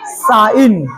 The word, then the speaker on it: sign: पढ़ेंगे कि सर, डिजाइन, डिजाइन, डिजाइन, जी को उच्चारण नहीं होगा, डिजाइन, RESIGN, रिजाइन, SIGN, साइन, FOREIGN, foreign, क्या आता है, फॉरेन।